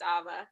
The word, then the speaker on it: Ava: Oh, it's pronounced Ava.